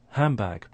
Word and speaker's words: handbag: to the sound and it starts to change to a m so that's assimilation so we have elision first followed by assimilation so it sounds like handbag and again i think that's the normal pronunciation you will hear from almost everybody handbag yes and obviously